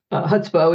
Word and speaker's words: chutzpah: So I did have a chapter on chutzpah, which is just a lovely, Yiddish term. Yes. Thank you for pronouncing it correctly.